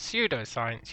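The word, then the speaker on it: pseudoscience: did you know that pseudo science you don't pronounce the P that's uh one opinion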